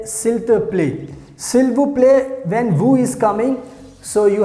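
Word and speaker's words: s'il te plaît: somebody very well so you can say silt play silter play so here we have to use the pronunciation filter play here we can use silver play silver play one ac please come here so that's how you can use silver play silk to play to say please and now let's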